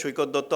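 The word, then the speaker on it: Saikat Datta: I actually am trying to pronounce it as Shoykot Dotto after a long time.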